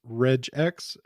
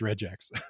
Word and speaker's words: regex: Jif so whatever soft G is following through here with reg X it's a funny it's a funny debate although I do have to say if you're gonna call them reg reg X's then I ask that